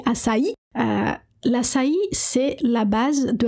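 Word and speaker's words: açaí: amazonienne qui s'appelle assï que les gens prononcent mal ici qui disent assï mais c'est assï l'assï c'est la base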